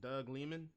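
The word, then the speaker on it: Doug Liman: director-wise so it was uh how you say doug lehmann that's how you say his name yeah um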